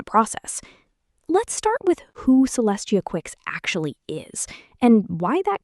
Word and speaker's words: Celestia Quixs: Celestia Quixs, pronounced Celestia Quixs, asked an AI to explain who she is and why anyone should care.